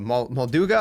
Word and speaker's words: Molduga: be um the mall whatever you call it molduga is how you pronounce it I keep forgetting uh so what